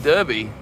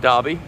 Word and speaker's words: Derby: uh we have derby mr derby not pronounced darby it's right next to